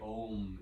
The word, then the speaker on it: AUM: breath reaches its peak we'll just say ohm internally for pronouncing the whole vibration AUM oh and feel that energy